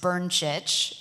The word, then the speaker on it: Brncic: My name is pronounced Brncic. It's Croatian, and yes, I would like to buy a vowel.